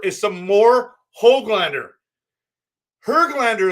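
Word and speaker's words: Höglander: some more hog glander her glander is actually how you say it do you guys know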